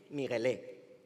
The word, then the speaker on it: Miguelé: Me llamo Miguel, aunque suelen llamarme Miguelé, con acento en la E, en la segunda.